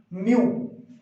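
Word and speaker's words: μ: इसके लिए जो सिंबल है, इट इज not from English, it is from Greek, म्यू। क्या प्रोनाउंसिएशन है इसकी? म्यू, मतलब इसकी साउंड क्या है? म्यू।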